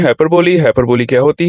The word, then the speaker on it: hyperbole: कुछ लोग हाइपरबोल पढ़ जाते हैं, कुछ लोग हाइपरबोले पढ़ जाते हैं। इसकी जो सही प्रोनाउंसिएशन है हाइपरबोले, ठीक है, हाइपरबोले, ठीक है।